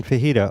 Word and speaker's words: fajita: be the uh yeah j's in spanish are kind of like an h sound like a soft sound yeah yeah so it